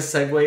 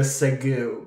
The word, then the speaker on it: segue: And one of the hosts, rather than saying, okay, we're going to segue into our next topic, they say, we're going to segue, because that's how it's spelled. Segue. Okay. Segue. Like ragu.